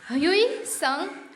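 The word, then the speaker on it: Hui Tsung: In fact, the story goes that the Chinese emperor Hui Sung, T silent होगा बच्चों, Hui Sung was so taken up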